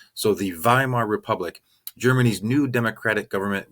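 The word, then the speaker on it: Weimar: there's something called the vie Mar Republic remember in German the W's are usually pronounced as V's so the Vimal republic germany's new democratic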